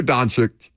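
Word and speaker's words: Dončić: say It come on it's very easy donic donic Luka Don I want to add an extra CH in there for some reason donic Luca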